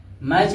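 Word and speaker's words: match: मैच लिखा है तो टी साइलेंट हो जाएगा, यम ए सी एच यानी मैच, मैच और टी का हो जाए साइलेंट हो।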